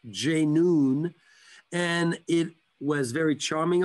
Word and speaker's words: J'NOON: name because it was very simple for all of us from the west to pronounce j noon and it was very